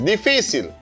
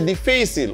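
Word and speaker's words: difícil: Esta palabra lleva un acento sobre la anteúltima sílaba.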